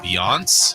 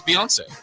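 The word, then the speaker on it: Beyoncé: you guys it was uh I think it's pronounced beon be beon beon beon the country singer it was Beyonce yeah oh Beyonce uh which two quarterbacks have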